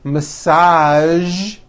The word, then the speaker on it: massage: casual television very good now there are only a few words that have the voiced z sound at the end a few of these words are the color beige the word massage and the word Prestige okay now that you